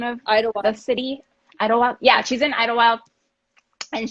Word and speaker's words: Idlewild: So I found this woman who makes 100% coconut wax candles in, do you pronounce it Idlewild? Is that the name of the city? Idlewild.